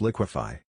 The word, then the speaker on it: liquefy: But when you add phi, it becomes liquefy. The D disappears.